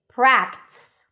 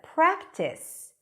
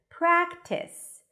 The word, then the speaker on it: practice: your Clarity for example if you say pratice instead of practice where people expect to hear two syllables because there are two vowels there practice but you kind of